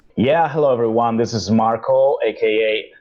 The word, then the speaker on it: Marco: This is Marco, aka, I'm Italian, so I should say Marco, like a proper Italian should say. I'm getting used to pronounce my name in English. And this is Marco, aka Producer.